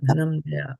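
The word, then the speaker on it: धनंजय: Dhanam-jaya, dhanam-jaya. When you pronounce it, comes dhanam-jaya.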